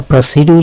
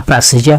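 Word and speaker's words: procedure: অগ্রসর হাওয়া প্রসিড প্রসিডার অনেক সময় প্রাসিডা বা প্রসিডিউর যেটাকে আমরা বলি এটা প্রসিডিউর না এটা প্লাসিজা প্রাসিজা অথবা প্রাসিডা প্রাসিজা প্রাসিজা মানে কি কার্যবিধি প্রাসিজা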